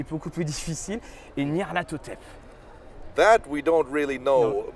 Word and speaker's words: Nyarlathotep: Okay, and the Y is pronounced I.